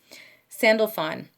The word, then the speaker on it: Sandalphon: him to reveal that secret to you okay Sandalphon yeah okay I did pronounce it right he was the Prophet Elisha